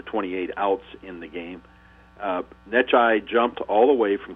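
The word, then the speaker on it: Necciai: Of course, he couldn't pronounce his name. He called him Necktie.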